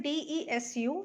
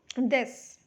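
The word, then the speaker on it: です: i mean pronouncing it this so here u is silent u is silent so that is why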